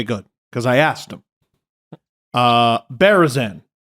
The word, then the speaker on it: Berezan: Berezan. Yep, no, that's how you say it.